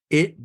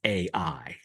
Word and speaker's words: Ai: Golem in fact fact you realize that I is not really the way you pronounce it this city is AI and with that we